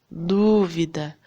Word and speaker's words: dúvida: Dúvida. Qual é a sílaba que a gente fala com mais força, com entonação? É o du, não é? Que é a antepenúltima sílaba tônica, é a última.